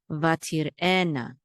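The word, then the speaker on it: ותרעינה: Vatir ena, and the accent is on the ena part.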